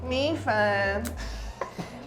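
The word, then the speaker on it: 米粉: Mi fen.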